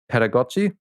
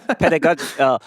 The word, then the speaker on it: pedagogy: music theory or anything like that, but music pedagogy. Oh, How pedag- to I have oh, no idea how to pronounce that word. oh, pedagogy.